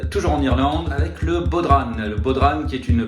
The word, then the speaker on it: bodhrán: Et si on veut être précis, on pourra le prononcer à la mode gaélique, à savoir bodhran.